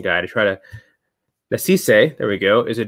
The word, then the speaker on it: Nasisse: And Nasisse, let me make sure I got my pronunciation guide. Nasisse, there we go, is a director, photographer, and